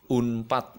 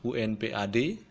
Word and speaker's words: Unpad: ya umpat SIM ya kita tidak mengatakan UNP ad atau tidak mengatakan simya tetapi kita mengatakan Unpad atau SIM nah itu yang nama